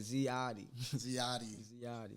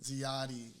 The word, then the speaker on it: ZIATI: Yeah, people have a hard time pronouncing ZIATI, but this is how you say it, ZIATI. ZIATI.